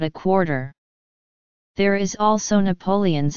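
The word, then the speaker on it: napoleones: There is also Napoleon's, again with all the vowels pronounced, a millefeuille pastry stuffed with a sweet milk-based filling.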